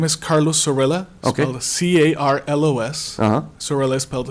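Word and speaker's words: Zorrilla: so again may we have your name and spell it so we have for the record my name is Carlos Sorella okay see ARL OS sir Li spelled Z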